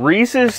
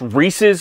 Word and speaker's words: Reese's: Got some Reese's too? By the way, it's pronounced Reese's, not Reese's. If you pronounce it Reese's, you're banned from this channel.